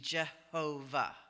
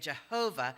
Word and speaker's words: Jehovah: And later, Christian scholars took the vowels from the name Adonai and put them on the tetragrammaton letters and came up with the pronunciation Jehovah. So that's how you get Jehovah, is the vowels from Adonai slapped under the tetragrammaton Yod He Vav He.